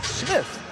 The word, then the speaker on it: Smythe: So yeah, and you're correcting me that his opponent's name is actually Tyler Smith, although spelled like it would be Smythe. Right, that's what Tyler told us on Thursday, and for Sen here.